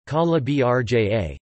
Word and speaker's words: Calabria: Calabria, Italian pronunciation, Calabria, Calabria in Calabrian, Calabria in Calabrian Greek, Calabria